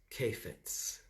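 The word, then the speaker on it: חפץ: want to give you the hebrew pronunciation of that word delights is kefitz maybe that's my last name k-a-i-f-e-t-z that is the phonetic spelling of the hebrew word okay now then we're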